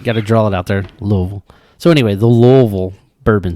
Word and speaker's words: Louisville: did you call it the louisville bourbon scene wrong oh my bad louisville there we go indiana say it right